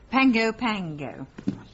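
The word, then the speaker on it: Pago Pago: Pango Pango. What? Po is pronounced Pango.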